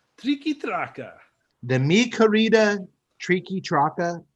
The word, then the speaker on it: Triqui Traca: Tonight's cigar is let me make sure I'm pronouncing this right. Triqui Traca. Triqui Traca.